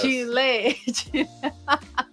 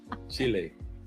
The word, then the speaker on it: Chile: Dre, I think you were putting the accent on the wrong syllable. Yes. Chile. Chile.